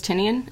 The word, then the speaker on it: Tynion: James Tynion?